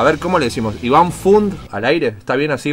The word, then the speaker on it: Fund: No, así como se escribe suena. Perfecto, es como funda, pero sin A.